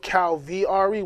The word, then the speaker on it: Kalviari: of it and and when you think of cow VRE without the V it wouldn't make the name the pronunciation of it so if you if you